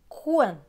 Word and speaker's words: coin: Le C va se prononcer que parce qu'il y a le O juste après. Donc, que et ouin, coin.